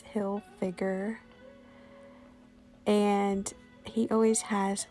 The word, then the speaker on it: Hilfiger: always have tommy hilfiger a lot of people try to pronounce it hill figure but it's hill figure and he always has